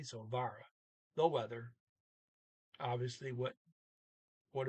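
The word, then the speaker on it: været: thing there var uh the t is completely silent so you just now say e like a trailing e so vara the weather obviously what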